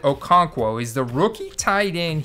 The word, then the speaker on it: Okonkwo: His last name is said Okonkwo.